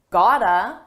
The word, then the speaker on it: gotta: This is a reduction. It's a combination of the words got to, and it's pronounced as one. Gotta, you gotta. You can also say you've gotta, you have got to, but in American English, it's very common to just say you gotta, you gotta.